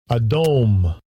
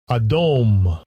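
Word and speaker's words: Edom: what Rosie Red Ruddy so adum how you pronounce it Strong's H1 122 adome adome so adome comes from Adam Adam strongs h119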